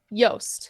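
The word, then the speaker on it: Joost: go with uh juice how do you say his name yost yost yes you know it's yoast abandoned brook what's funny is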